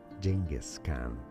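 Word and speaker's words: Genghis Khan: this voice like that closer to the original one is jingis Canan jingis Canan but it is also correct to say it as gasan okay oh according to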